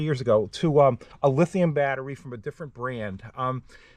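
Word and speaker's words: LiTime: Okay, and this video has a sponsor, and it looks like it's called LY Time. It's actually pronounced lithium, as in lithium battery.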